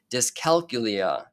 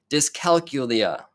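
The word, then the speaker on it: dyscalculia: our next learning disability which is discala this is a hard one to pronounce let me try that again I think I got the first right but disc calcula there you go all right now this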